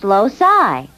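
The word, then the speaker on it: loci: no not locuses more than one Locus is pronounced loai I think we should spend a little time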